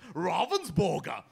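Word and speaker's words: Ravensburger: wonderful German company as I told you it's pronounced Robbins burger so is that is that how you pronounce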